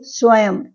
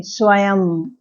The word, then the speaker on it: स्वयं: इसके अलावा कुछ शब्दों के अंत में लगने पर यह केवल म के रूप में ही उच्चारित होता है। जैसे स्वयं यहां अंत में लगा है। इसको हम ऐसे उच्चारित करेंगे। स्वयं एवं शिवम ऊपर है अंत में है और इसको हम म की तरह प्रोनाउंस करेंगे।